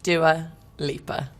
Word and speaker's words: Dua Lipa: How is Dua Lipa pronounced? Dua Lipa.